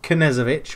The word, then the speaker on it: Knezovic: It's no longer Knezovic, which I've been told is the correct way to say him with the K.